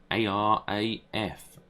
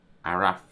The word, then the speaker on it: Araf: A-R-A-F. Araf. Arif.